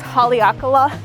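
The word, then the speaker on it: Haleakalā: favorite activity I'm totally going to butcher the pronunciation probably but I think it's Haleakala you can look it up it's a volcano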